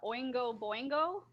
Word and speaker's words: Oingo Boingo: So if based on what she'd said and what I think it's Oingo Boingo.